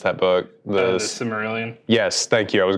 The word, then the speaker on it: Silmarillion: I don't know how you pronounce that book. The Silmarillion?